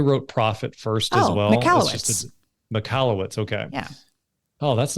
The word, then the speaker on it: Michalowicz: Michalowicz. Okay. Yeah. Oh, that's not so bad. It's spelled jacked up when you look at it though. Yes. Michalowicz.